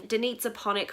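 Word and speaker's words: Danica Panić: that I am picking Danitza Ponick from the Bone Season series by Samantha Shannon, and yes, that is how you say her name.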